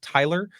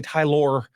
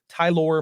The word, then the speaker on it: Tylor: the way definitely I assumed it was just pronounced Tyler it's t y l o r but the Met Ty it is the way they pronounced it was definitely tyor tyor Mill who started for the Mets on Sunday